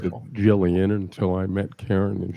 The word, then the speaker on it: Gillian: I used to pronounce it wonderful. Jillian until I met Karen and she corrected me.